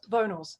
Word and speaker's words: Vonals: And Yeah, which you are releasing, is it pronounced Vonals? Vonals, yeah.